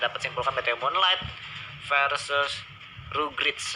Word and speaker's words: Rugrats: simpulkan BTW Moonlight versus Rugrits. Harus bacanya gitu ya, Rugrits team ya. Harusnya ya baca seperti itu ya.